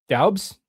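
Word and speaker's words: Doubs: Dobs. Dos. It's looks like it's spelled Dabs, but I think it's Dobs.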